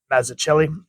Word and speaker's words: Mazzucchelli: This is by Frank Miller and David Mazzucchelli, I believe is how you pronounce it.